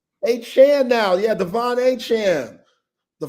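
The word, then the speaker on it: Achane: Now, the whole time he was in College Station, people got it wrong. I mean, it's spelled A C H A N E. Looks like paint.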